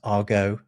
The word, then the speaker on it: argot: Are you talking about like an argot? Well, that is another good one. That's a different thing. That's a French word, but we don't know where the French word comes from. Sometimes pronounced argot.